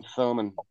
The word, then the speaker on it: Thomann: and it's a German company called oh, yeah, Thomann.